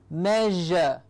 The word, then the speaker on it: measure: at all in here it is the closest sound that comes to the sound is the shire like the shh that sound so it's version because it is nothing else but the sheer sound that is vibrated so measure okay now